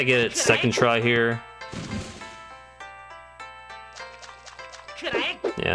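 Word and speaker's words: Yae: During this round of grind, I also started referring to this character as Yai instead of Ye in terms of pronunciation. I'm sure Zara will be happy. Yai just sounds better anyways.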